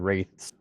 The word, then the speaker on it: Wraith: they want to do like a 5v5 the wraiths, and it's just nothing but the jungle, and